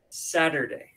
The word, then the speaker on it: Saturday: Saturday. Y la segunda sílaba es der. No es con E, no es der, es der. Y terminamos con day.